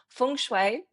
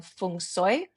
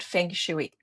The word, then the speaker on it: feng shui: Let's There are a few different ways of saying it. So, there's fune and funoy, but not fenguy or not fu.